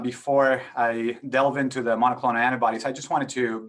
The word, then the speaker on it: monoclonal: Is that the correct pronunciation for this? Yes, it's monoclonal antibodies and monoclonal neutralizing antibodies.